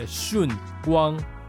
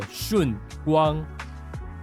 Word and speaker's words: Shunguang: I don't know how to say it in English, but this is how we pronounce it. Shunguang. Shunguang.